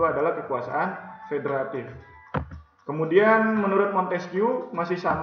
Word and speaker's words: Montesquieu: Yang pertama menurut John Locke, yang kedua dari Montesquieu, ya, bacanya Montesquieu.